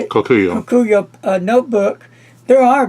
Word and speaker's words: Kokuyo: Koyuko, how you say it? Kokuyo.